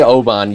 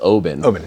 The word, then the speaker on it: Oban: me a bunch of stories about I say Oban you said the right pronunciation was Obin Obin yeah yeah well if you go to if